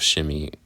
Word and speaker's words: Shimei: When I think of Shimei, I think of like a shimmy shake, like Shimmy.